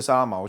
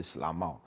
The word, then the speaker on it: Slamaw: 这个沙拉毛群它的发音是斯拉茂，那它世居在台中的大甲溪上游。